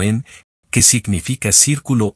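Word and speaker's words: 円: de un kanji japonés llamado en japonés pronunciado como en que significa círculo o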